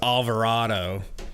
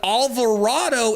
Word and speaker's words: Alvarado: But Alvarado and avocado literally rhyme.